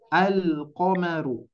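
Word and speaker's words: ٱلْقَمَرُ: Maka dari itu Bapak Ibu sekalian, kita harus betul-betul memperjelas bacaannya. Lamnya harus dibaca. Al-qamaru.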